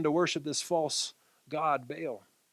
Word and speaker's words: Baal: No longer Yahweh, but this god Baal, pronounced Baal. But we're going to say Baal for today to work through it a little easier.